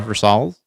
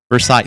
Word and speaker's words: Versailles: Like, all the ornate belongs in Versols or Versali's. Uh, no, I think it's Versols. I can't I'm bad at pronunciating this stuff.